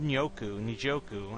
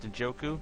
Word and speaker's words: Njoku: And then at the end, you trade with the Packers to get David Njoku. I think that's how his name is pronounced, Njoku. They actually say both letters, which is surprising.